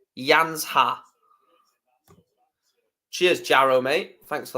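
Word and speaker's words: Janža: fan slovenians telling me how to pronounce yanza it's yansa cheers jro mate thanks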